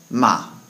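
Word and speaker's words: 骂: sound because it's said somewhat forcefully with a down tone uh so with ma it would be said ma ma and that word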